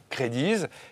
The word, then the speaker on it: CredeeZ: qui est derrière et ça se dit créé 10 et ça se prononce this as écrit c est re d eux z point com pourquoi ce